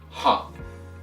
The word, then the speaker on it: ح: Alright, so the sixth letter of Arabic is pronounced as Ha, Ha, Ha. Repeat after me, Ha, Ha, Ha. And the letter Ha doesn't particularly has an equivalent sound in English.